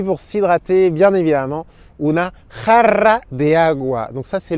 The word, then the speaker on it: jarra: Et puis pour s'hydrater, bien évidemment, una jarra de agua. Donc ça, c'est le mot le plus difficile à prononcer en espagnol. Una jarra, ¿vale? J, et ensuite 2 R.